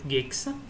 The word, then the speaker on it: Jig: This is Jig's solution, who I was told is actually pronounced Gigs.